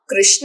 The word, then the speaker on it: कृष्ण: रू बोला जाता है, लेकिन संस्कृत के अनुसार जो सही उच्चारण है वो न कृष्ण है न कृष्ण है, ये है कृष्णा कृष्णा।